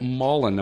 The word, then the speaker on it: Mollin: So, let's remind everyone today we're talking with Mullen. Am I pronouncing your your last name correctly?